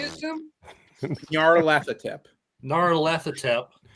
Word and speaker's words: Nyarlathotep: Nyarlathotep. Nyarlathotep. Like it's spelled.